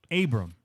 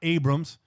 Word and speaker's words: Abram: We like to put syllables and letters and vowels up in that bitch, consonants. Now it's Jonathan or John Abram. There you go. Not Abrams, not John Adams.